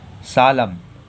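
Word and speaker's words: solemn: लोगों का एन साइलेंट होता है, तो एन साइलेंट हो गया तो इसे क्या पढ़ेंगे? सालम।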